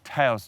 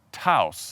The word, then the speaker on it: Taos: time for that homework I attempt to pronounce the word Taos correctly Taos house Volkswagen Taos and we finally reveal